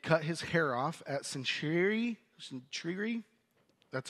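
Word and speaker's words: Cenchreae: sailed he had cut his hair off at centuy that's how you pronounce it because of a vow that he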